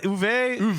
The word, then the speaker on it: Uwe: By the way, pronounce it. Is it Uwe? Uwe.